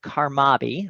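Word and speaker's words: CARMABI: in the marine biology realm we partner with karmaby that's spelled c-a-r-m-a-b-i which stands for the caribbean research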